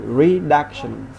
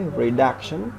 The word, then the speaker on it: reduction: So the stress in the second syllable the same, like reduction, okay, reduction, a noun.